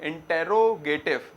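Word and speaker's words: interrogative: फिर होता है इंट्रोगेटिव। स्पेलिंग तो क्या है? इंटेरोगेटिव, मगर प्रोनाउंसिएशन में इंट्रोगेटिव बोला जाता है ज्यादातर।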